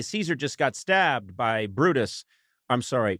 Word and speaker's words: Brutus: right in the back Brutus well that's in fact how his name is pronounced in both classical Latin and the ecclesiastical pronunciation hey Caesar just got stabbed by Brutus I'm sorry brus what would you say